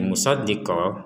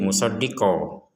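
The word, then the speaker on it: مُصَدِّقًا: Ketika kita putus di sini, misalkan kita baca dari awal dan enggak kuat nafas, berhentinya di musoddiqo, maka menjadi musoddiqo.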